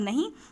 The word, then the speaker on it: know: डू you days a secret, NO नो मतलब नहीं, KNOW के इसमें साइलेंट होता है तो इसे हम नो बोलेंगे।